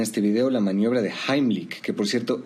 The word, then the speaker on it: Heimlich: Vamos a ver en este video la maniobra de Heimlik, que por cierto esa es la pronunciación correcta porque está en alemán. La mayoría dice Heimlich, pero bueno, se entiende de qué se trata.